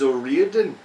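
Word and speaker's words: O'Riordan: I thought it was O Ren but that's just my American accent being an cuz then I saw an interview with her and he said it and I'm pretty sure it's pronounced Oren Oren Oren Oren that could just be her accent too so I don't I'm I'm just gonna say Oran for the rest of my life my name is Oren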